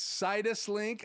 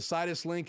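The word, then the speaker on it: Sidus Link: turn on um did you say s sinuses link it's situs link i think is how it's pronounced it's by aputure and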